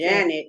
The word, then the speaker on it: Jeanette: Janet is how they say it, but they say that Jeanette is a spelling.